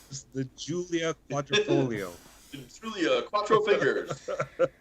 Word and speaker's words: Giulia: Julia. Wow, that was the worst pronunciation. Quadrifoglio? Yeah. The Julia Quattrofingero. The Giulia Quadrifoglio.